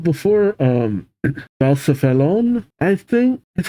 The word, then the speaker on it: Blacephalon: Balcephalon, I think is how you pronounce it.